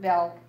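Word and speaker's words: Bjelke: The J is silent, and it's Alfred Belk.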